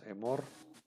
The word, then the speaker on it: Emor: Todos estos puntitos también se van a pronunciar como una E brevísima y se van a transliterar como una E igualito que una E del Sheba simple, una E como superíndice.